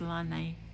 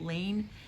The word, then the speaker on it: Laine: to get we have carried um it's actually pronounced lanai but i call it lane magazine since almost the beginning maybe about issue